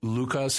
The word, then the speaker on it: Luca: In Aramaic, Lucas, it also has that Q sound in the back of the throat, so it's like Luca.